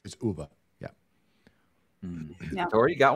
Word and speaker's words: Ove: pronounced man called what UVA I would say oh yeah I used to say ove too I mean it doesn't really matter but it's Uber yeah yeah I've already